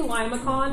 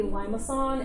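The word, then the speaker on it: limaçon: it there's like a I say Lima con because I like to just pronounce things phonetically I think it's technically Lima song and there's a there's an accent with the sea but I don't know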